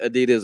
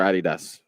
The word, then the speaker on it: Adidas: everyone wants to know is it Adidas or Adidas the German Way it's Adidas Adidas okay as As Americans